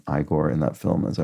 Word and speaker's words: Igor: I the character igore who pronounces his name igore in that film as